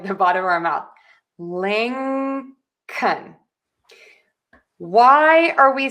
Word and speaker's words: Lincoln: short U and a instead of saying an O? Because syllable number two is unstressed and in unstressed syllable we are going to reduce the vowel and make it shorter and more relaxed and quicker and lower in pitch. So that O becomes an a.